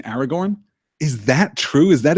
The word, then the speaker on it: Aragorn: when I say no if you pronounce all the names right you would have to roll both the ours in Aragorn is that true is